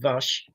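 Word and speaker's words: Vušković: to see more of Vash Kovichic. It's actually pronounced Vash, but we want to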